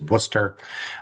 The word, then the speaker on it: Worcester: Um There There's a little less than There's a lot of letters there, but it's just pronounced simply as Worcester, uh which is the second largest city in New England right behind Boston.